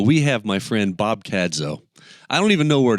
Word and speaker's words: Cadzow: Well, there's some debate about Cadzow, Cadzow. I mean, it's spelled C-A-D-Z-O-W, so...